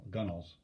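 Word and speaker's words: gunwale: of the gun whale gunnels remember that word g-u-n-w-a-l-s w-a-l-e-s excuse me pronounced gunnel ash is a type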